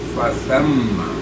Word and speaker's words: فثم: وَالْمَغْرِبُ فَأَيْنَمَا تُوَلُّوا فَثَمَّ سا ہے یہ سین نہیں.